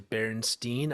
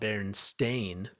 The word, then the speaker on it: Berenstain: yeah yeah i remember the pronunciation was always berenstein and i thought maybe it's berenstein but i never thought berenstain yeah i've never and look at it now it's an a so i'm like where